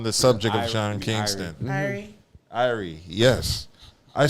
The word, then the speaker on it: Irie: Irie, yes.